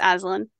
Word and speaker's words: Aslan: I think it's Azrael or As. No, it's Aslan. Okay, Aslan.